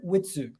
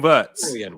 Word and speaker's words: Wirtz: It's Forlan Witsu. Witsu, right? One second. Is it Florian WIRTZ? Yeah, WIRTZ. I thought it was WIRTZ. Yeah, Florian WIRTZ. WIRTZ. Yeah, that's it. Yeah. WIRTZ.